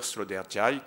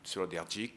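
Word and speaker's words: Sloterdijk: le philosophe autrichien Peter sloder ou sloder selon la prononciation qu'on utilise ce philosophe se posait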